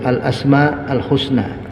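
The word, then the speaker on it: al-asma al-husna: jemaah sekalian alasmaul Husna jadi bacanya itu alasma Al Husna karena alhusna di sini menjadi tambahan penjelasan ya dia man'ud kalau naatnya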